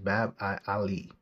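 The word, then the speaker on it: Bab-ı Âli: the ottomate Turkish language it would be pronounced bab I Ali bab literally means gate and Ali High was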